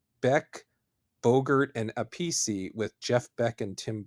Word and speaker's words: Appice: It's actually Carmine Appice or Appice, but it seems like Appice is the preferred pronunciation.